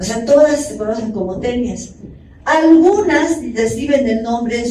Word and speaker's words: taenia: todas se conocen como tenias. Algunas reciben el nombre en su género de taenia y se lee tenia.